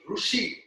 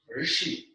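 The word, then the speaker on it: ऋषि: They call it Rushi, Rushi. It is not Rushi, it is Rishi.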